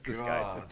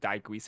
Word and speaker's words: disguised: It's not supposed to be Daiguise. It's supposed to be like there's an S.